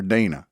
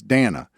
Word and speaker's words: Dana: I used to call her Dana. It's Dana.